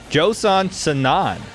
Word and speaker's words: Joson Sanon: talk about this awesome recruit that ASU got Josan sonan did I say that right guys I got